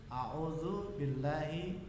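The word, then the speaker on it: أعوذ بالله: Ta'awudz itu a'udzu billahi minasyaitonir rajim. Supaya kalian bacanya tartil, benar. Ta'awudznya harus benar ya. Saya contohkan. A'udzu billahi minasyaitonir rajim. Saya jelaskan sedikit. U-nya panjang. A'udzu billah.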